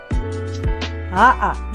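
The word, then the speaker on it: ʻaʻa: AʻA, that is correct.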